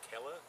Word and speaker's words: Keller: why a cala beer the word is keller and you were pronouncing it correctly i was just doing that for the audience to say keller is a